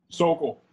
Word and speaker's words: Sokol: Sokol.